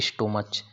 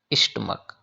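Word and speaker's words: stomach: आगे देखिए, प्राणायाम should be done on an empty स्टमक, देखो इसे बहुत से बच्चे बोलते हैं स्टोमच, इट्स रॉन्ग प्रोनाउंसिएशन, सही है इसका स्टमक, स्टमक, स्टमक, correct pronunciation स्टमक, नॉट स्टोमच या स्टमच।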